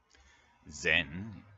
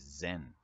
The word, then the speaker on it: Zen: the word Zen geographically Zen is the Japanese pronunciation of the Chinese word Chan which means something like